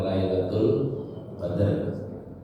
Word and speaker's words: Lailatul Qadr: Tema lailatul qadar atau kita bahasanya lailatul qadar ya. Kalau bacanya kan Lailatul Qadr ini tema yang sesungguhnya